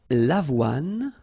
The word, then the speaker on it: l'avoine: L'avoine, le blé, le maïs, le millet. So let's repeat them. L'avoine, remember, don't insist on the final E.